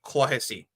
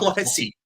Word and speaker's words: Clohessy: I think of the lot, probably one of the safest ones is sounds like Nessie. So Clohessy. Clossy. So his name's not Clossy.